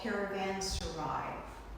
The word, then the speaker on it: caravanserais: Along the Silk Road were what they call caravanserais. I spelled it there for you. I mean, you can't believe that it's pronounced just like it looks, but it is.